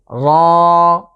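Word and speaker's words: ر: র, বাংলার যে র আছে অনেকটা এমন, তবে খেয়াল করতে হবে এটা আমরা একটু মোটা করে উচ্চারণের চেষ্টা করব। এর মাখরাজ হচ্ছে জিভের আগাটা, জিভের আগার যে পিঠ আছে সেটাকে আমরা ঠিক তার উপরের তালুর সাথে লাগিয়ে উচ্চারণ করতে হবে।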